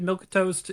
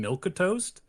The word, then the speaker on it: Milquetoast: I'm not, you might be right about that, but I'm pretty sure that milk toast is, first off, supposed to have the 3 syllables. You're supposed to have the between the milk and the toast because there was a